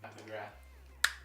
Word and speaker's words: Pat McGrath: Is it TH? Yes. Pat McGrath.